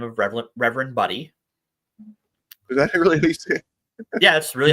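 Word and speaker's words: Budde: uh Woman by the name of re Reverend buddy is that really how you say yeah that's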